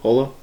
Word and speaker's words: Jolo: catholic cathedral on jolo island island holo i don't know how you guys pronounce it hola yeah like polo island uh 27 dead at